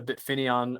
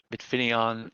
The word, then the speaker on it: Bitfineon: is that you're you're the bit fini on or finian I guess to be to pronounce it correctly yeah maybe finis a bit finian bit finis on our CFO Ryan calls it bit finis on so I guess either is technically correct yeah and it's it's